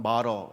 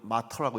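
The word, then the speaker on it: martyr: 영어 미국 발음으로는 마러 얘기하고 영어식으로는 마터라고 얘기하는데 이게 순교자라는 단어인데 이 단어가 바로 증인이라고 하는 마르투스라고 하는 헬라어에서 시작됐다는 사실이에요.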